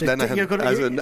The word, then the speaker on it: Lenihan: I think I was pronouncing his name wrong there. Maybe I had a couple of versions going at one stage, but yeah, it's Lenihan, as in Brian Lenihan.